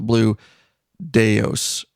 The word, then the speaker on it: Blue Daos: and then also right now currently with the blue deos is that how you say it John that